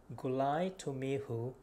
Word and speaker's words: gulai tumihu: It's called gulai tumihu. Gulai tumihu is a Hokkien pronunciation which I'm saying right now because I'm a Hokkien from Penang, Malaysia.